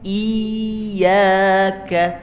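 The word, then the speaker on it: إياك: Iyyaka. Coba sama-sama, 1, 2, 3. Hati-hati yang sering salah bunyinya ada seperti mengalir bunyinya, tidak ada aliran, hanya ditekan saja pada huruf kasrahnya.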